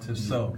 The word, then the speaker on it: Tissot: I have a Tissot, but Tissot, Tissot. Tissot. Yeah, it's pronounced Tissot.